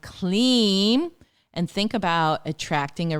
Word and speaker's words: Kleem: It's a single word, Kleem, K-L-I-M, pronounced K-L-E-E-M.